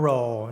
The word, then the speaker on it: Roll: แปร โรว์ นะ ครับ ตัว นี้ ออก เสียง ว่า roe นะ ครับ รอ เรือ นะ ครับ Roll แล้ว ก็ ต่อ เนื่อง